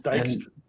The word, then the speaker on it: Dijkstra: But he's kind of like the Dijkstra. Snail Messiah pointed out. Dijkstra is his name. Dijkstra. J is silent.